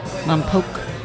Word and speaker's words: Lompoc: Lompoc. Mm-hmm, that's how you pronounce it.